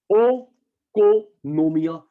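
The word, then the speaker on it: οἰκονομία: आई silent होता है, ओ को नोमिया से बना है इकोनॉमिक्स वर्ड, ग्रीक वर्ड, जिसका मतलब होता है बेटा हाउस होल्ड मैनेजमेंट।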